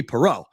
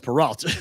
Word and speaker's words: Perrault: say my last name my name is supposed to be Perot and I say Perot and then Scott's like no it's peralt like he has to